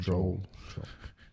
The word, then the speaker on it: Joel: Joel.